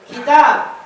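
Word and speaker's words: كتاب: Kalau ada alifnya dibaca? Kitab. Nggak ada alifnya dibaca? Kutub.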